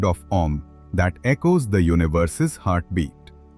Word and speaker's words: Om: Let's explore why Om's three components, A, U, are pronounced as Om, not Aum. In Sanskrit, a basic grammar rule called Sandhi combines the A and U sounds into a prolonged O sound.